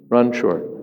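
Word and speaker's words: Ranchor: Ranchur.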